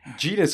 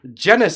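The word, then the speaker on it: Jermaine Jenas: and Newcastle midfielder Jermaine Genius, or Genus as people called him, and then he had to put it in the public that it's actually genus that rhymes with penis.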